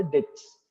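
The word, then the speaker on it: debts: market तो आपके भैया जो भी डेप्ट्स बोलते हैं उसका एग्जैक्ट वर्ड होता है बेटा डेटस डी ई बी टी एस डी ई बी टी S that is डेट्स अगर मार्केट बी साइलेंट रहता है तो इसको जनरली हम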